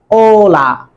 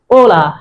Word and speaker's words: hola: a is always silent it will never be pronounced so that's why it is hola not hola it is hola ola hi hello numero do number two numero uno